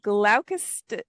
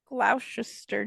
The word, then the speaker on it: Gloucester: Nope, It's not Gloucester. Steyr. It's not. It's Gloucester. Okay. Gel. GLO. Yeah, You spell it. Spell it. GLOU, and then Chester. Cester. Chester. Yeah, Gloucester.